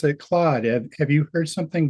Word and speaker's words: Claude: Um, the the way you're pronouncing um I I've always pronounced it Claude. Have Have you heard something different? Uh yeah the I do believe that the correct pronunciation is Clo because uh the the reason Anthropic created